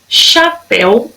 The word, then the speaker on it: chapéu: Chapéu, olha o acento lá, ó, na última sílaba. Se é a última sílaba que é mais forte, ela é oxítona.